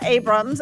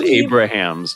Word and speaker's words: Abrahams: talking with uh Abrams I want to make sure I should know this am I pronouncing your last name correctly I'll respond to anything my family says Abrahams just because it's Abrahams okay Abrahams sorry